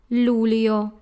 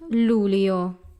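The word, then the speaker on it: luglio: we have Lu Leo again in this word forget about the letter G we have two syllables rule yo the eye and all in there has they your sound Lou Leo that's Lou Leo a ghost own this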